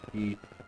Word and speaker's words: Ki: But I'm going to do a key point, how it's pronounced, key, and I'm gonna do 2 unarmed strikes as my flurry of blows.